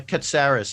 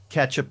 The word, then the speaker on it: Katsaros: spelled there right there i have one like i cut saris i've gotten everything from ketchup to clitoris so he was on